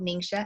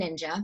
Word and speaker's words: Ningxia: is why it's called Ningxia and you have Ningxia red okay it's often called ninja but I'm Chinese so I have to say it correctly so ningxia is the